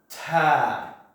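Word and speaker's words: ت: And we pronounce this letter as Ta.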